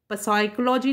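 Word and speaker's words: psychology: जो वर्ड है साइकोलॉजी, इसको हम पी से स्टार्ट होता है लेकिन साइकोलॉजी नहीं बोलते। इसमें क्या है, ये जो पी, क्योंकि इसमें ये जो पी वर्ड है इसको हमने साइलेंट कर दिया है। यानी बोलेंगे जब हम तो साइकोलॉजी पढ़ेंगे और पी को सिर्फ लिखेंगे। तो ऐसे शब्द जो लिखे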